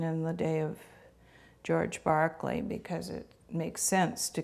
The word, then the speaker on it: Berkeley: in America now uh his name at the time and in England today would be pronounced Barkley so I have been taught to say Barkley as a philosopher he's